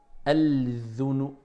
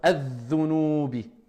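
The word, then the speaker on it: الذُّنُوبِ: Donc la règle c'est simple, c'est que quand après alif wal lam vous avez une shidda sur la lettre, vous ne prononcez pas alif wal lam. On ne va pas dire al-dhunu. D'accord? Al-dhunubi.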